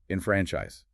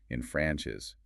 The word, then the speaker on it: enfranchise: Infranchise. E N F R A and C H I S E infranchise.